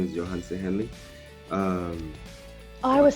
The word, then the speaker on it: Yohance: all right cool of course my name is johan se henley um i was saying it wrong your